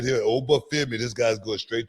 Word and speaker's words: Oba: Oba.